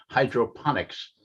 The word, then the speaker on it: hydroponics: Wilson that the word is pronounced hydroponics. It's not spelled PH.